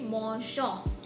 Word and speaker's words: mangeons: Okay, so if we won't add this EONS and we just add ONS, it would sound like nous mangeons. Okay, so to make the pronunciation smoother, we add EONS to make it mangeons.